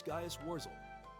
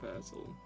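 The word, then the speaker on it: Gaius Worzel: My name is Gaius Warzel. Not Verzel.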